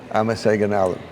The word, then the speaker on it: አመሰግናለሁ: አመሰግናለሁ። Amaseganalu.